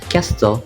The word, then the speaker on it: castle: pronunciations listen become listen soften BEC become soften Castle become castle and then fasten become fasten